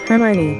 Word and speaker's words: Hermione: 제대로 된 발음은 Hermione. 할머니 아닙니다.